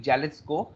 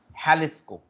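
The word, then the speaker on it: Jalisco: वी कैन not call it जैलिस्को, we call it हैलिस्को। It's called हैलिस्को, never say जैलिस्को, इट्स से हैलिस्को।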